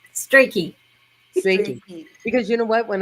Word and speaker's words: Strachey: You said it right the first time. Strachey.